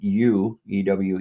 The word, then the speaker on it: ewe: Did you know that the word you ew is defined as a female sheep and is pronounced similar to the word you meaning yu?